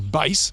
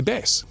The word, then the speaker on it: bass: Or some word has been mispronounced, you know, like a instead of saying base for guitar, they'll say bass because AI's not smart like that.